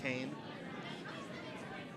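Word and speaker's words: Kean: Keen. It is Keen? Yeah, okay. just like that. K-E-A-N. Yes. Keen. I think in New Jersey they pronounce it Kane.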